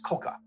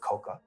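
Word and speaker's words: 甲賀: GA or k k the local pronunciation is Koka so that's what I'm going to go with we see these two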